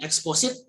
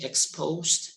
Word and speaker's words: exposed: And then exposit, okay, exposit is not the correct pronunciation of exposed, okay, exposed, not exposit.